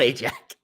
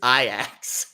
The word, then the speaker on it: Ajax: cotton champion it's not it's not ajax it's it's iax it's not what you scrub your your your uh your toilet with aj we should have